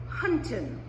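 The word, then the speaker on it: 餛飩: The English word wonton derives from the Cantonese, which is pronounced more like wonton, which in turn comes from the Mandarin huntin.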